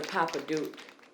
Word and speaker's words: Papadook: my name is the papa duke it's p-a-p-a papa like daddy duke like the dookie the